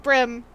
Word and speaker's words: bream: getting to Edgeworth oh bream is correct however it can be pronounced like brim oh yeah no I